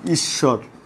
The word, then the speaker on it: ঈশ্বর: শেষে বফলা যুক্ত হলে, শব্দের মধ্যে শেষে বফলা যুক্ত হলে বয়ের উচ্চারণ হয় না, বয়ের উচ্চারণ হয় না, তবে সংযুক্ত বর্ণটি দিতে হয়, তবে সংযুক্ত বর্ণটির উচ্চারণ দিত্ত হয়।